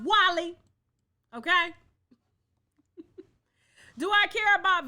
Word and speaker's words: Wale: Wale is pronounced Wally.